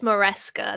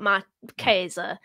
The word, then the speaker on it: Maresca: It's Maresca, not Marquesa.